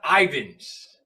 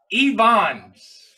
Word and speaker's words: Ivans: His name is not Ivans. You know how you pronounce it? It's Evans. Evans is his name.